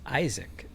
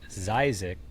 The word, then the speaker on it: Zyzek: think my name is Isaac because when I say my name is Zisa, the his and the Z go together. It sounds my sounds like my name is Isaac.